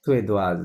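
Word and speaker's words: suédoise: সুয়েদোয়াজ, right.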